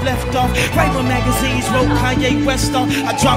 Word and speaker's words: Kanye: It's Kanye, but some of my plaques, he still say Kane.